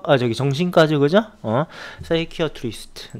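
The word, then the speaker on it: psychiatrist: 사이키어트리스트. 네. 이게 PSY로 시작하면요, 요게 이제 P가 묵음이 되면서 사이키, 요렇게 발음이 되죠.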